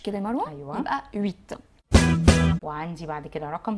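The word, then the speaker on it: huit: عندنا رقم 8 اللي هو ويت. ويت ليا تعليق برضو ان الاو والاي عملت الصوت وي وي.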